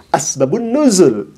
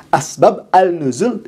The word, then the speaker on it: asbabun nuzul: Begitupun asbabun nuzul. Asbab annuzul itu ditulisnya tapi dibacanya harus asbabun nuzul. Ini menandakan bahwa orang ini tidak bisa mengidofatkan menyambungkan antara asbab dengan annuzul. Harusnya disebut asbabun nuzul.